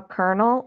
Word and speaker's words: colonel: makes it regular it's kind of like how Colonel it's spelled with L's and it's because it used to be pronounced colonel foreign I'll be here